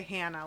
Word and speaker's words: Hana: over my name because my side of Jersey says ah as an apple for my name and they say it like can of soda like a Yeah. I say Hannah like can of soda and it's so tiny of a difference but they get all riled up.